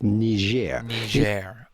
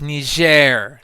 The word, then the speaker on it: Niger: be perfectly correct here you would have to adopt the French sounding pronunciation of ner I see it's ner see ner I know